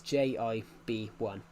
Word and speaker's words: JB1: He was the formerly the leader of the J of the JB1 agents pronounced as Jib1.